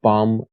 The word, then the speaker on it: bomb: The terrorists retaliated against the government with a bomb attack. دقت کنید B در واژه bomb تلفظ نمیشه.